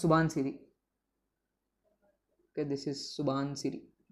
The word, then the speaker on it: Subansiri: another tributary of brahmaputra which rhymes with with dhansiri it originates here flows through arunachal Pradesh and joins approximately at the same place as dhidi and it is known as suban cidi okay this is suban